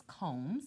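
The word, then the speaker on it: culm: a stalk of bamboo sounds like the word column but it's comb CU l m you saw the word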